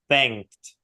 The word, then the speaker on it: thanked: Yeah, thanked. Ага. То есть, друзья, внимание, да, вот когда вот этот ed, то оно никогда практически не произносится как ed, произносится как д или т.